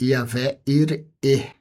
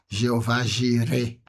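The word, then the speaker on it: Yahweh Yireh: E nesse lugar, Abraão chama Deus de Yahvé ir. É a pronúncia que todo mundo conhece como Jeová gire, mas no hebraico Yahvé ir e o Senhor provê.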